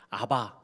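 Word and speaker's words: אבא: 있는 가정에서 부른다 늦어 이게 성경이 쓰여졌던 그 언어로 되어 아바 아빠 이것은 요 발음이 똑같아요 지금 그들도 집에서 아버지를 부르는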